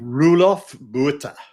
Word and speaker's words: Roelof Botha: How do you pronounce his name, Keith? Roelof Botha.